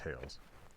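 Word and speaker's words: θεός: I guess the actual ancient Greek pronunciation is theos.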